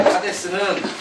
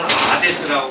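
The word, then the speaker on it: Hadès: 하데스는 그냥 영어로 발음해서 하데스고, 불어로는 아데스라고 발음하는데, 그러면 헤르메스를 불어에서는 에흐메스라고 하는 거와 같아요. 이 H가 발음이 안 돼요, 불어에서는.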